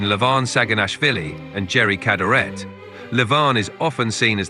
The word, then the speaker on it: Cadorette: contest to watch wait did you just say Jerry galit I apologize for the mispronunciation I meant Jerry cadaret thanks for pointing that